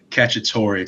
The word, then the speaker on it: Cacciatore: Here to share the inspiration behind that podcast and how he copes with mental health is Patrick Cacciatore. Did I pronounce that right?